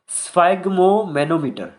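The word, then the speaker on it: sphygmomanometer: तो इसका प्रोनाउंसिएशन है स्फाइगो स्फाइग्नो, यार मैं भी कंफ्यूज हो गया, स्फाइग्मोमेनोमीटर, ठीक है, ये इसका ऑप्शन करेक्ट है।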